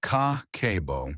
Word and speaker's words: Kakeibo: Meet Kakeibo, pronounced Kah-keh-boh.